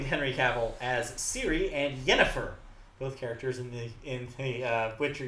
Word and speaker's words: Yennefer: It's like Jennifer, but with a Y.